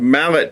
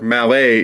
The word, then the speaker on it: Mallet: y6b was a compound Mallet type locomotive or malet if you want to pronounce it correctly it was a 2882